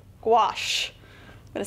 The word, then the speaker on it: gouache: have to offer and it's pronounced squash gouache i'm going gonna say